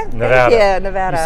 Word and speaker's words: Nevada: Nevada? Yes, Nevada.